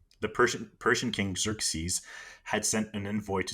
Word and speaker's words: Xerxes: So the Persian king, I have the pronunciation here. It's Xerxes, the Persian king Xerxes, had sent an envoy to Sparta asking for earth and water.